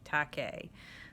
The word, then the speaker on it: Takei: this enemy by George Takei it's supposed to rhyme with okay tah K so George Takei is